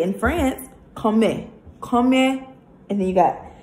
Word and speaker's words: comment: remember how I said you're not gonna pronounce every single letter this is common but they don't say coming they say in France comment comment and then you